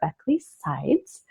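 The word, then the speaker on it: Beckely Sides: eco method interiors and today's guest is beckley sides did i pronounce that right absolutely and should we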